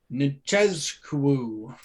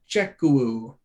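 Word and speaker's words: Nzechukwu: Kennedy Nchezkou. Yes. Sorry. I don't. Maybe the Z isn't pronounced there. Nchezkou That's probably closer.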